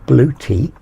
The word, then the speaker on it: Bluetti: As you'll have seen, I'm now getting charged into the Bluetti, or Bluetti, as I've learned it's actually pronounced over the last couple of days.